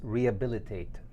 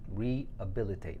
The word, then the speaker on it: rehabilitate: Somebody is asking, how do we pronounce rehabilitate? So that's how you pronounce it, rehabilitate, rehabilitate. So the H is not very pronounced.